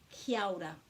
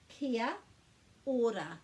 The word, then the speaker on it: Kia Ora: And when we're pronouncing any word in Māori, we put a break after every vowel, and we remember the vowels are a, e, I, o, u, and there are no silent letters.